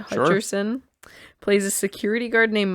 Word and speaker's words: Hutcherson: us go okay um jot Hutchinson is that how you say it Hutcherson plays a security guard